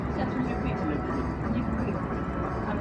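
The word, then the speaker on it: Château le Puy: How do you pronounce that? Chateau le Puy. Chateau le Puy.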